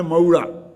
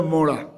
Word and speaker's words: मोड़ा: देखो एक मात्रा का उच्चारण है मोड़ा और दो मात्राओं का उच्चारण है मऊड़ा। अब वो है मोड़ा, मोड़ा मोड़ा समझ गए ना।